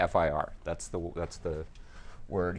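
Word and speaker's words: FIR: last time you never you don't pronounce this as an acronym fer you say fi are that's the that's the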